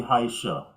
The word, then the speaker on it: Heisha: I want to make sure I pronounce this properly. You guys, Heisha. I say Heisha.